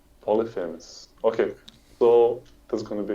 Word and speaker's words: Polyphemus: How do you pronounce this guy? I think the common pronunciation is Polyphemus. Polyphemus.